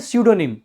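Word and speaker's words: pseudonym: फिर बता रहा हूं इसको बोलते हैं सूडो निम इसमें पी आपका साइलेंट रहता है इसको बोलते हैं सूडो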